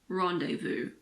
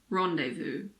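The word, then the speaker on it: rendezvous: the letter Zed again there aren't that many words in English with a silent Z the most common ones are probably l a fair and rendevu L a fair rendevu both of these words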